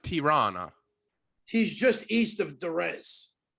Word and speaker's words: Tirana: oh yeah it's right it's no it's actually pronounced tirana he's just east of duress oh yeah yeah